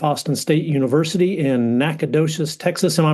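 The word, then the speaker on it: Nacogdoches: Austin State University in Nacadocious, Texas. Am I pronouncing that right, Matt? Yes, you are. Yep. Nacadocious, Texas.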